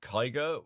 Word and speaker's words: Kyger: Yeah, it's pronounced Kyger, like tiger with a K.